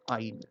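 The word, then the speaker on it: yne: Similarly, for double bond, it is ene, triple bond, it is ine, Y-N-E, pronounced as ine.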